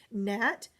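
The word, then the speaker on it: gnat: Nat, GN digraph with the ghost G.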